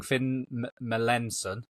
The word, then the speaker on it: Finn Melanson: Sam podcast Finn right I'm gonna get your name wrong Finn Melanson you got it perfect Finn Melanson Finn Melanson